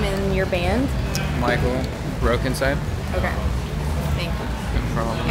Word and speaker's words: Mikl: in the band or mine is just my name michael i just spell it differently and then ants is